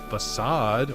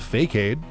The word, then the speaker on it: facade: Facade, or if you played this game as a child, Fakeade. Because why would you think it would be pronounced facade? The only other word you'd heard spelled that way was arcade.